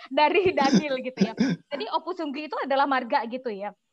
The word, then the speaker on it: Ompusunggu: Daniel gimana bacanya? Ompu Sunggu.